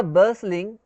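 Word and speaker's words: bustling: Story है इन अ बर्सलिंग टी जो है ना वो साइलेंट है इसमें है ना इन अ बर्सलिंग of office of clover and को।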